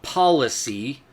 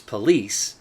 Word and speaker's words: policy: Not policy, which is most often mispronounced as police. It is pronounced policy. Hooked on phonics here. Spell it out. It's pronounced policy.